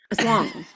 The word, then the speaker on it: Aswang: Like when you claim aswang is pronounced aswang. Aswang. I believe it's aswang with the empasus on the second syllable.